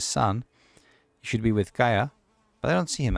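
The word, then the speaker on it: Caja: Kaja is one of the. Oh, sorry, it's not Kaja. It's Kaya.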